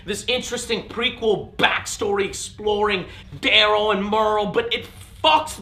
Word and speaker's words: Merle: And he plays Daryl. And it's spelled D-E-R-L-E. It's not Daryl, it's Daryl. Please get that right.